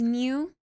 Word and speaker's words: Nyuu: Yeah, the Japanese sound is New.